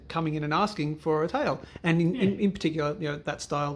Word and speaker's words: Tael: They're both 37.5 grams, but one's really the Portuguese pronunciation of it is tail.